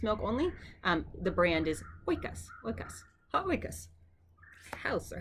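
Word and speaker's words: οἶκος: And then the circumflex accent mark. So oi, oi, oi, right? Up and down, oi. So oikas, ha-oikas. See, this time it's easier to say for us English speakers because the accent is on the diphthong, and I think that makes it a whole lot easier.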